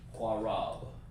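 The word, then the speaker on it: קרב: And then, of course, it's pronounced like this. Qua, independent connected, like this. And Rab, like this.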